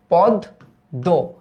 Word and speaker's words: পদ্য: তো সেক্ষেত্রে এটার উচ্চারিত রূপটা কি আসবে? দ এর সাথে মফলা আছে, তাই দ দ্বিত্ব হবে, তাহলে দ্বিত্ব করলাম পদ দো।